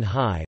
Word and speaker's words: hi: Vowel initial words are sometimes written with an unpronounced H, especially if they are very short. The preposition I in was sometimes written high, or if they need